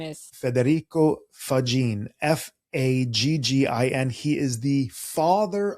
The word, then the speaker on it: Faggin: And if you listen to Jason's pronunciation, you hear he knows Italian. Faggin. Yes. Northern Italian, by the way.